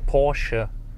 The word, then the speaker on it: Porsche: way that I say Porsche well it's Porsche so you just have to put a little bit of attitude at the end then it's correct but if I'm going